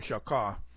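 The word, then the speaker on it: shachah: In Hebrew, in the Old Testament, the Hebrew is shakah, S-H-A-C-H-A-H, S-H-A-C-H-A-H, shakah, it's the way it's pronounced, or shakah.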